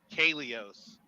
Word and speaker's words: Koilos: what does coos mean Coos is actually the word Kos so it's a Greek word that means hollow okay um it uh